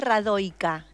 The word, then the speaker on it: Radojka: mirados k2k con hot en realidad se dice radoi k radio es un nombre de mujer serbio pero nosotros al ser